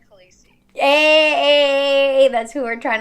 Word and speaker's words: Khaleesi: so good how do i say her name carlysi khaleesi khaleesi there you have it guys this was